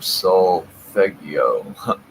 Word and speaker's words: solfeggio: Solfeggio? That's how it's said.